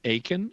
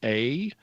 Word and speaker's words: Akin: My last name is Akin, and so it's spelled A-K-I-N.